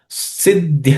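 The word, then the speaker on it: सिद्ध्य: Siddhya siddhyoho. So here, siddhya, this idhya has, there are three letters actually. Id, and ya. The middle is the fourth letter, so it has to be aspirated.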